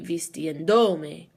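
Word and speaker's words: vistiéndome: Now when we add me, we're adding another syllable. That means that the second to last syllable is now do, so it would be vistiendome. And we don't want to change the way that the word sounds. So we're going to count 3 syllables back on the new word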